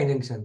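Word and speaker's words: injunction: को सही पढ़ा है इन जंक्शन इंजेक्शन नहीं इंजंक्शन कौन बताएगा इ फटाफट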